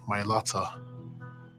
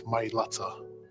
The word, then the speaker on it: Mailata: They're representing our family name, the Mailata. That's the correct way to say it, guys. Mailata on the back of the jersey for the world to see.